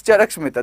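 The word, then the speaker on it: Charaka Samhita: Okay, I think that's Charak Smita, that's the right pronunciation.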